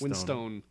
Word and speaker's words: Winstone: yes Ray Winston has been um or winst Winstone I feel like it's still pronounced Winstone you were very confident with that let's go